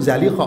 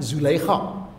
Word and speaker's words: Zalikha: Yang Fusha itu Zalikha, bukan Zulaikha. Ya tak silap lah, tapi yang Fusha itu bacanya Zalikha.